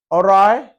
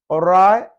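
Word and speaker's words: awry: ओराय, ओराय something awkward, इसमें W silent है।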